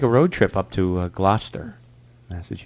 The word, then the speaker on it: Gloucester: We have to take a road trip up to Gloucester, Massachusetts. That's how you say it, Gloucester.